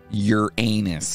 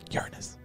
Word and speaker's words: Uranus: the Latin name for the Greek Sky God your anus no it's Uranus no it's not it's not on this show